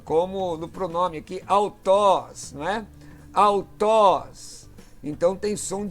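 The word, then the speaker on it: αὐτός: Alfa e Y, como no pronome aqui, autós, né? Autós. Então tem som de U aí, né? O Y no ditongo tem som de U, não é?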